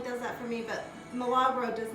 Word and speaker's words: Milagro: me on to this tequila I think it's pronounced Milagro this is a really smooth tequila we all